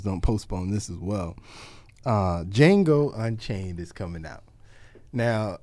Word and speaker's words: Django: The premise of the movie is you have Jamie Foxx starring as a slave by the name of Django. The D is silent.